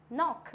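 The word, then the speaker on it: knock: आता है हमारा के के साइलेंट कब होता है एन से पहले आया तो के साइलेंट होगा अगर एन बाद में है के पहले है तो के हो जाएगा वहां पे साइलेंट फॉर एग्जांपल नॉक बोलते हैं ना नॉक नॉक तो क्या हो जाएगा नॉक नीड नाइफ नेक्स्ट होता है नो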